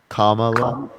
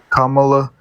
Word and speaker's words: Kamala: say again if you could correct me please Kamala Kamala I I understand that you believe I I'm